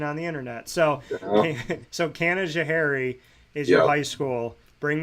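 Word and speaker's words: Canajoharie: They gave me some pronunciation, so you say it. Well, how do you say it? Kanajahari. Kanajahari.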